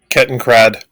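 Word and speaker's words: Kettenkrad: craft okay ken craft can how do you pronounce that one kitten crad thank you so they brought out another one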